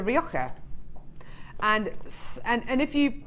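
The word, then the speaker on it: Rioja: so someone yeah so if you have a red wine that is r o r i o j a it's a rioka and and and if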